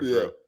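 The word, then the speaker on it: Jrue: He's no longer Drew. Facts. The D is silent. So yeah, so I mean,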